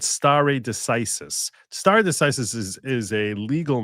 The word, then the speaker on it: stare decisis: stare is spelled like the word stare, like to stare at someone, S-T-A-R-E, and decisis is D-E-C-I-S-I-S, like ISIS, decisis. Yeah, like that.